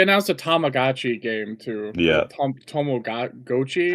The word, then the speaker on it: Tamagotchi: Tommo Gochi. Tomagotchi. Yeah. I I ain't saying that's how he pronounced it. I don't know. That's how I ain't saying that. It's Tamagotchi.